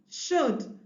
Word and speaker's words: should: tell the child that letter L in those three words is silent so they are not articulated C W should as